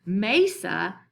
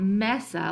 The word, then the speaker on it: mesa: sounds that we have, those are open syllables, it makes sense why it is mesa and not mesa like I originally tried to pronounce.